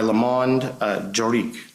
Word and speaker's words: Le Monde Juridique: the Business Legal Advisor of the Year by Le Monde Juridique. Is that correct? That's correct. And did I pronounce it correctly?